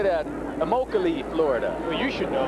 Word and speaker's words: Immokalee: Immokalee, Florida.